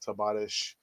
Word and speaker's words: Tavares: talk about uh nuno tavares uh we've said tabaresh kumitovari's spanish pronunciation uh people saying oh but you know